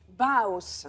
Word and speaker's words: Bauhaus: Vous prononcez comment? Bauhaus.